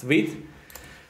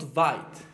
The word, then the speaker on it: Vite: Why you pronounce Vite and not Vite? That's an excellent question. I thought it was called Vite when I first saw it, but it is